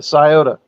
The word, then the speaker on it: Scioto: because I've been saying sioto cyotto uh the sciota yeah that's what I said I'm glad you